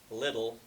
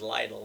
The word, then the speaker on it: Lidl: over there alby's and he pronounces it little when it came in the neighborhood I thought it was Lionel it's like Lidl it's